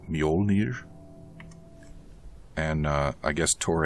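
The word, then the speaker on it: Mjölnir: my hammer's up here's a friendly poke from mullner wench he brought the hammer down with all his might on sinclair's head we're on a comeback tour baby it's pronounced mjolnir and uh i guess tor anderson is th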